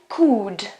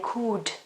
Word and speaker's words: could: the present form then could could okay pay attention especially for Italian speakers or native speakers I mean or a Spanish native speakers I don't pronounce the L okay I could mmm so good is